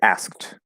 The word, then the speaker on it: asked: three consonant sounds together the fully enunciated word is asked asked and so sometimes it'll